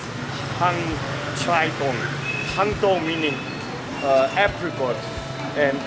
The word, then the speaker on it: Hang Chai Tong: Some said the name was Yan Sang Tong or Chan Sang Tong, to pronounce it more correctly. According to latest research, the name was actually Hang Chai Tong.